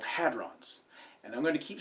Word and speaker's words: hadron: class of particles called hadrons, and I'm going to keep saying hadrons from now on because it's easier than saying protons and neutrons all the time. It is pronounced hadron, not hadron or never mind.